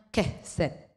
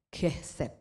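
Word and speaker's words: חסד: Murah hati diambil di Amsal 11 ayat 17 ini diambil dari kata aslinya, ini bacanya kehset ya, kehset saudara.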